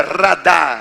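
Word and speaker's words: רדה: segura radar seria RDA porque tem h no final mas não se pronuncia pronuncia como r o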